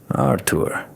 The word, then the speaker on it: Arur: Arur with the stress on the last syllable.